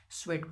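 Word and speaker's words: Tswett: मैकल टवेस्ट ठीक है क्या बोलते स्वेल्ट बोलते साइलेंट पढ़ा जाता है ठीक है जसे सुनामी का टी साइलेंट होता है वैसे ही स्वेट पढ़ते हैं इसको माइकल स्वेट ऑन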